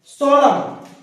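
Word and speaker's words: solemn: डैम, बोलते डैम, धिक्कार, पर स्पेलिंग क्या होती है, DAM। सोलम, गंभीर, 16 में होता है गंभीर।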